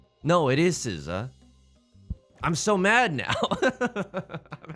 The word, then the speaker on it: SZA: Like, oh, what marvelous flights of fancy you must have been on to think that it was SZA. No, it is SZA.